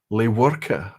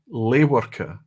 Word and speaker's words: Lewerka: My name is pronounced Lewerka. Okay, Lewerka. So it's not V as in the German.